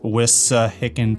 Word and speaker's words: Wissahickon: It's pronounced Wissahickon Park.